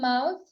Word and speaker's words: mouth: Mouth. Mouth. Amazing. So, it's mouth with s sound. Mouse. This is the S sound. So, here it's T and here it's it's S sound.